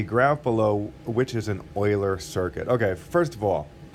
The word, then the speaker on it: Euler: below which is an Euler circuit okay first of all first of all the way to pronounce that is Euler not Euler it doesn't rhyme with Ferris Bueller it is Euler so that's first thing